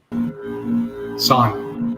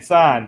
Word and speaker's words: Sahn: Sahn. Oh, Sahn. Okay, Sahn. It rhymes.